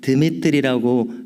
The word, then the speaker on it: 데메드리오: 그런가 하면 이제 교회를 순방하다가 사도 요한은 데메드리오라고 하는 인물에 대해서는, 그래서 슬라브 계통에서는 데메드리오는 드미트리라고 발음을 하게 되는 그런 이름으로 이해가 되는데요, 이 인물에 대해서는 극찬을 아끼지 않습니다.